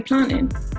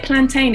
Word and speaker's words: plantain: Even the way I pronounce it, it just sounds easier when I just say plantain. Because I feel like when you say plantain, it takes more effort, and the way you're